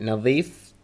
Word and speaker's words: نظيف: لا نظيف is clean. نزيف is bleeding. So let's try and make sure that we pronounce the letters correctly. نظيف. Nazif is to clean and nazif is bleeding.